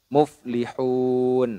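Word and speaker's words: مفلحون: Yaitu nun hidupnya ini yang awalnya fathah diganti dengan sukun atau disukunkan. Muflihun. Nah, seperti itu.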